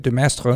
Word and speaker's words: de Maistre: a lot to, like Joseph de Maistre, is that how you say it? De Maistre? Yeah, de Maistre.